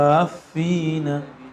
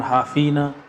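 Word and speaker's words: حافين: Wa taral malaikata haffina, gitu ya. Jangan hafina, hafina min haulil arsy.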